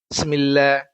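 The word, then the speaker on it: بسم الله: Bismillahir bismillah huruf bnya tidak dibunyikan gitu. Ini padahal fatal ini harus dibunyikan bismillah ya.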